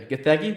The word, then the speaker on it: Gathegi: Paul Rudd's Ant-Man or Eddie Gathegi. I think I said that right. Mr. Terrific. Yeah, Eddie Gathegi. Yeah, Gathegi.